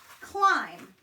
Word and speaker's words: climb: when becomes after m at the end of a word that B is silent he doesn't say anything click I mmm climb so we have to